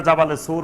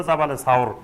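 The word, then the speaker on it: جبل ثور: জি সাওর সাওর পাহাড়ে সাওর পাহাড়ের এখন যেটা জাবালে সুর বলে জাবালে নূর আর জাবালে সুর এই জাবালে সুর বা এটা শুদ্ধ উচ্চারণ হল জাবালে সাওর এই সাওর পাহাড়ের গুহায়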